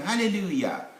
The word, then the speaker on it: hallelujah: come to this one hallelujah of course hallelujah is j but the sound is ye is an old sound we call it then there's this french